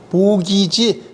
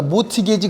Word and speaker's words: 모기지: 이걸 영어로 쓰면 그냥 모기지, T가 무급이니까 모티게지 그러지 말고 모기지 그래요. 또 발음을 잘못해가지고 모가지 그러지 말고, 여러분들 은행 가보면 뭐 모게지 써놓고 그러잖아요.